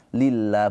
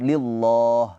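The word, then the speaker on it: لله: Nah, di sini karena sebelumnya harakatnya kasrah maka dibacanya tarkik pakai pakai a lillah bukan lillah ya.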